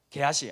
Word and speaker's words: 게하시: 게하시. 아니, 발음을 잘 해야 됩니다. 잘못하면 상스러운 발음. 게하시이죠.